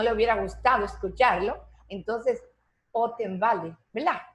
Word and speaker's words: Ottenwalder: Otenwalder, y sí, la R sí. al final sí se pronuncia, ¿verdad? Sí, la R sí se pronuncia. Correctamente. En Alemania, en alemán las R se pronuncian bien marcadas.